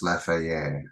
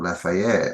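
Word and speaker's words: Laferrière: Okay, so let's have a look at some photos of Fort I think it's pronounced Laferriere.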